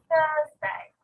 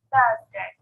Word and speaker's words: Thursday: I don't say Thursday and I don't say Thursday, but I say Thursday. Notice that as well I put my tongue in between my teeth to make that sound at the start.